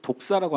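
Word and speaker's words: δόξα: 영광이란 단어를 헬라어로 독사라고 합니다. 독사. 뱀 생각하지 마세요. 그냥 헬라어를 읽다 보니까 독사라고 발음을 해야 돼요.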